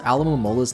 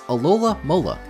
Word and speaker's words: Alomomola: In the English dub for the Pokemon Sun and Moon anime, they mispronounce Alomomola's name as Alola Mola.